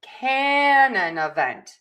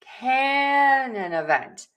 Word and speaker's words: canon event: So the stress is important here. So you can look at the phonetic spelling at the bottom, or you can look at the little apostrophes. That is marking the stress on each syllable. And so we are going to stress syllable number 1, can. And we are going to stress syllable number 4, vent.